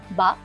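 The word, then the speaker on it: 八: Mandarin भाषा में 8 का उच्चारण बा होता है, जिसकी ध्वनि फा शब्द से मिलती जुलती है।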